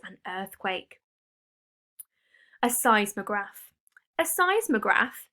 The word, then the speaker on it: seismograph: earthquake a seismograph a seismograph say size mograph that's how you pronounce it is a special piece